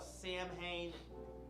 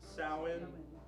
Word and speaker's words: Samhain: You'll hear, I call it Samhain. I think it's actually pronounced Samhain.